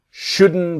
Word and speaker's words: shouldn't: And the T is silent. You shouldn't buy it.